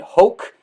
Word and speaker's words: Hoch: season it is brian hoke you can follow brian on twitter brian hoke that's at b-r-y-a-n-h-o-c-h as he says in the twitter timeline rhymes with coke of course brian welcome